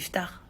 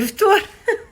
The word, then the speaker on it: ftour: Et il me dit, mais ça se dit pas ftar. Donc c'est parce que ça s'écrit comme ça, du coup je me suis dit peut-être que les gens ils comprennent mieux comme ça, mais en fait ça s'appelle le ftour.